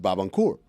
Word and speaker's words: Barbancourt: And Carl was the first one to introduce me to this when we were in college, and he pronounces it Barbancourt. Barbancourt, if I'm going to be really precise.